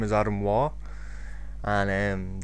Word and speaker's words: Waugh: My real name is Adam Waugh, and the Waugh is spelled W-A-U-G-H, because it's not what or wall or wow or wag or whatever.